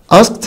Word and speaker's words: asked: played delivered هتقول لي مستر asked هي اللي مختلفة لان بعد الكا ساوند الاي دي بتنطق تا لكن played or delivered بينطقوا الاتنين ده دي عادية.